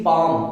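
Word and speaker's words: palm: से पहले अगर एल ए जाए तो हम साइलेंट कर देंगे एल को जैसे की पैम तो देखो एम से पहले है ना तो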